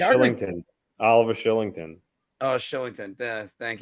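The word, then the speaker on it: Kylington: Killington? Yeah. Oh, there's another one. I think it's pronounced Shillington.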